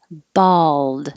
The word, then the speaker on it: bald: ball bowling bowling bald so this is the same as 11 but you're finishing with a d but you won't hear the d if i just had it at the end of the sentence you're bald you won't hear it you're bald you won't hear the duh because i'm holding it in the d position bald but if there's